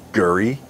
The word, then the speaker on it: gurry: Apparently there's stuff in the sponge called gurry. I think I'm pronouncing it correctly, gurry, G-U-R-R-Y.